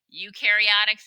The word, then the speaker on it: eukaryotic: no prokaryotics no nucleus eukaryotics you rhymes with dew eukaryotics do have a nucleus